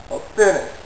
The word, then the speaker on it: Pfennig: apparently in the beginning, P's and F's were pronounced together. You still have that on a certain number of German words. Pferde, a horse, P-F-E-R-D-E. Pfennig, a penny, P-F-E-N-N-I-G.